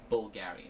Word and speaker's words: Bvlgari: Greek and bulgary is spelled the way that it is with the V because of the classic Latin alphabet but it is pronounced bulgary so as far as